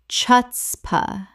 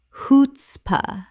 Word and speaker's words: chutzpah: s p uh naj espionage Word 224 chutzpah Common mispronunciation chutzpah Correct pronunciation hoots-pah The c h makes an h sound in Yiddish. Two syllables Example It took real